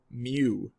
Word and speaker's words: mu: strange letter over here is the Greek letter mu and that spelled like this or at least it's read like